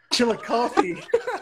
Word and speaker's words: Chillicothe: How do you pronounce my city's name? Chillicothe.